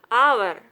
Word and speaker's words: hour: A few words start with a silent H. Honest, hour, honor, air.